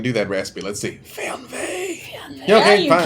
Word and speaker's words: Fernweh: It is Fernweh in German. I don't know if I can do that raspy. Let's see. Fernweh.